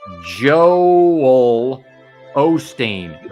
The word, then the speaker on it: Joel Osteen: is still moving just break it down phonetically Joel Osteen Joel Osteen sounds like you're saying Joel Olsteen that's too ill right now Joel Olsteen like you can roll the L from Joel into the L you can roll an L